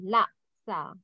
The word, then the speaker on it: laksa: La. You have to pronounce K. Laksa.